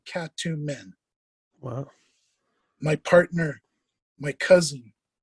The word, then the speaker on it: Katumin: And one of the Egyptian pronunciations of Yaret is cat. It's the first part of the name Katumin, and Joseph Smith pronounced it Katumin.